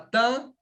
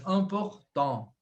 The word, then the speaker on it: important: Então, não vou falar important. Aqui não tem como eu falar tan, porque o sufixo, ó, AN, né? Tem o T. O T é mudo, mas important.